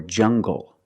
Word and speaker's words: jungle: an L after it when you have an L after it it makes the G sound like English make the heart G English or jungle tangle and angle these are pronounced with the hard G sound example monkeys live